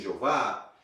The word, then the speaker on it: Yahweh: colocaram depois vogais e talvez o mais próximo do que seria uma tentativa de pronunciar o nome de Deus seria Yahweh. Alguns dizem Jeová, mas enfim, o nome de